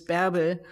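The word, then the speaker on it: Bärbel: German name, which is 𝗕𝗶𝗯𝗶. And it's like barbell, but with the umlaut, with the two dots on the A.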